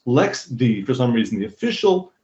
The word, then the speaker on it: LXD: pronounced l x see but lxd is actually pronounced lex the cause some reason the official pronunciation for the